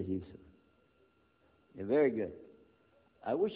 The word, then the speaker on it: Yusuf: Can you say Yusuf? Let me say Yusuf.